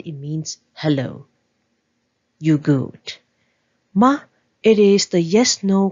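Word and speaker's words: 吗: MA please take note the word ma needs to be pronounced lightly and shortly because we want to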